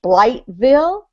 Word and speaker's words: Blytheville: It reads Blytheville, but it's Blytheville. Blytheville.